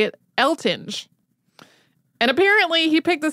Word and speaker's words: Eltinge: that it was pronounced elting like with a hard G but there is a